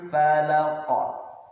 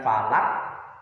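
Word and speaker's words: فَلَق: Falaq. Bukan falak, bukan falaq, tapi memantul.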